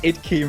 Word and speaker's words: IDK: It's Idkey, mate. It's key, alright.